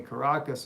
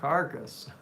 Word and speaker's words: Caracas: Caracas is how you say it, not carcass. They're not dead.